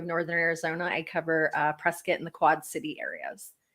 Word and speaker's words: Prescott: you can tell that you're not a local if you say Prescott you know like Dak Prescott at the football player it is actually Prescott like biscuit that's how you say it and that's how you